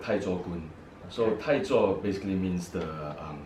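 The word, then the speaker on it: 太祖拳: Okay, in Hokkien, in our dialect, we call it Taichokun.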